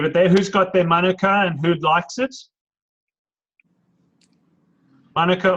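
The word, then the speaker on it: mānuka: any kiwis Michelle yes Rob young assured us that even though the Aussie say Manuka it is Monica thank you very much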